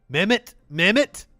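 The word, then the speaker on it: Mehmet Oz: mccormick by leicester wait have i been saying his name wrong i've been saying like met oz mimit that's how you say it mammoth oh the book is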